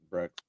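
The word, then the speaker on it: Becht: 2 touchdowns, and then for how do you pronounce that kid's last name for Iowa State? Breck.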